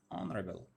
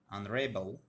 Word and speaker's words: honorable: one will be stressed similarly honorable honorable this one will be stressed rule number first is